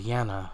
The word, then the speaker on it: Jena: sorry for pronouncing wrong I thought it was Jenna but Jana so I said this